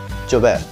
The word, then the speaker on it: llover: you can see it here The double "L" like in the word "Llover" in Argentina and Uruguay is pronounced like "Sh" one more time, whatever